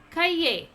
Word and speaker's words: cahier: For notebook it is cahier. How to pronounce?